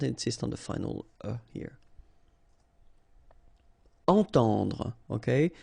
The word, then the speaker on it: entendre: Entendre. Okay, so nasal here, en, and then the same one, temps. Entendre.